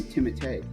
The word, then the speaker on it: Timothée: I don't want to say anything Actually, from you say his name Timothée. Because he's French, but Timothy he actually Chalamet. lets people pronounce it Timothy.